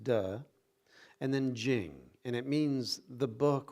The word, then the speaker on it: Ching: You have Tao, you have De, which is spelled T-E, but it's pronounced De, and then Jing, and it means the book or the collection of, writing about the way, Tao, and its power, De.